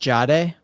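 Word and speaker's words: Jahdae: Riley Moss and Riley Moss, Pat Surtain, and so it's pronounced Jade. Jade Barron.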